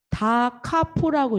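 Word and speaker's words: da capo: 디다 C DC 나왔죠 dc는 다 카포라고 읽어요 다 카포 다카포 그래서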